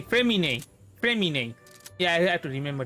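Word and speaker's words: Freminet: The T is silent. Nah, not silent. It's like being spelled as Y or I. Okay, Fremine.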